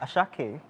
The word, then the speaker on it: Ashake: Yeah, how to pronounce Ashake. Ashake. Like without the R.